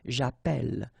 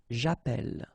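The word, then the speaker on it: j'appelle: in a previous video if you have you know Double L like that it will affect the pronunciation of the uh so actually it will open the sound and that's the reason why you will get the sound e okay japel japel all right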